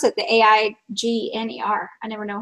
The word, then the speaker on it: Aigner: Aigner. Okay. Well, I needed help pronouncing that.